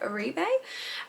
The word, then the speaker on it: Oribe: I think that's how you pronounce it, Oribe.